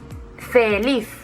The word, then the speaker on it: feliz: Feliz, ¿dónde lleva el golpe de voz? Feliz, en la última. Por lo tanto, es aguda.